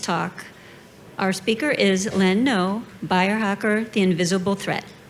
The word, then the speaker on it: Noe: name as she said is pronounced no opposite of yes and if you ask